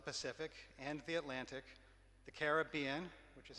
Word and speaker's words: Caribbean: The Gulf was home, but she also loved the Pacific and the Atlantic, the Caribbean, which is how she taught me to pronounce that.